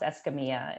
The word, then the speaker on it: Escamilla: So yeah, Escamilla. It's how you say it.